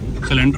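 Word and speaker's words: Sule: पर पता नहीं, मेरे को दिख नहीं रहा सिलेंडर है नहीं। वो सामने जो आपको दिख रहा है स्ट्रक्चर, वो है सुले pakora. सुले, हाउ डू you pronounce it? सुले और सुले, सुले, ओके।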